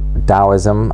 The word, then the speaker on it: Taoism: your own research into taoism as it's called although it's often written with a T at the beginning um but I believe it's pronounced with a d uh uh I'm here